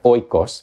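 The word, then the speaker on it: οἶκος: Because it's coming from that root omicron iota kappa omicron sigma ikos, or in, more common pronunciation you might hear oikos, but ikos, house, right?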